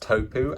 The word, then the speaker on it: Tupo: This was spelled Tupo, but is meant to be pronounced Topu, and kind of sounds like tampon.